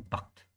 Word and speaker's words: Barthes: Jadi kalau kamu bilang Jacques Derrida sama Barthes, itu Barthes ya, bacanya, tulisannya Barthes, tapi bacanya Barthes.